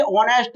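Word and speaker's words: honest: लेकिन आप सोच रहे होंगे ये ऑनेस्ट है, लेकिन एच इसमें साइलेंट है।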